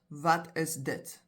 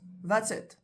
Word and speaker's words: wat is dit: We'll ask, that's it, which is the condensed and incorrectly pronounced, wat is dit? So we often speak very fast, and what you'll hear come out is, that's it.